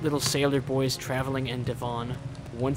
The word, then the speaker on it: Devon: 8 little sailor boys traveling in Devon. One said he'd stay there, and then there were... Okay, so it is pronounced Devon.